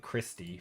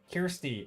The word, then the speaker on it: Kirsty: when you first raided I think I said christe but it's not I flipflop the r in the I Kirsty I'm Scottish nice some